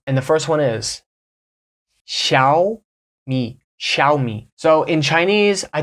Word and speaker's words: Xiaomi: the first one is Shia me shiai so in Chinese I don't speak Mandarin but it is you open your mouth more in the first part Shia me shiai so I've heard some